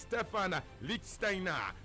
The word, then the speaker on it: Stephan Lichtsteiner: know it it's not like data it is Stephan Lichtsteiner Mario Mandzukic up is Mario Manju to do